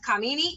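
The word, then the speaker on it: Khamenei: call for resignation of Kamini is how you pronounce it Khomeini who may me it's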